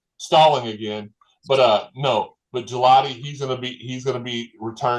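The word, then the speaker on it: Gillotte: But he's had it's Gelati. Gelati. Okay. Yeah, a lot of people mess that up. He like what you would go to the store and get, and it's nice and cold and it tastes absolutely. But yeah, Gelati, he's going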